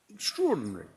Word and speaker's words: extraordinary: that we sort of pronounce in a slightly unusual sort of way extraordinary uh extraordinary TR as in t r o r but of course it's spelled extra ordinary and so I did